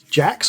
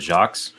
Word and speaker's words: Jacques: Yeah, and Richard Jacques, or Jakes, however you want to pronounce it. I've heard it different ways. I think it's Jakes. He's French, so isn't it Jacques? He's actually English, and he used to live in the town I live in now, which is crazy.